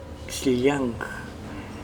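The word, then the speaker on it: Xllang: mochica, proviene de una palabra muy complicada para pronunciar. Es X-L-L-A-N-G, Xiliang.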